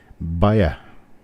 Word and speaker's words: Bayer: Pronounce that like you pronounce any other German word that ends in R. You drop the R. Bayer.